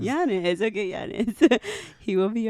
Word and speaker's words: Yanes: How do you pronounce his last name? Yanes. Yanes.